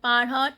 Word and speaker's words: parents: Parents. T and S both are not pronounced.